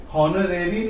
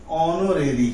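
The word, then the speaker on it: honorary: इसी तरीके से ये हॉनरेरी नहीं है, ऑनोरेरी है।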